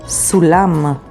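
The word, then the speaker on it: סולם: Here's a word with samech, sulam. Sulam means ladder, and it is spelled with samech, vav, lamed, mem sofit, sulam.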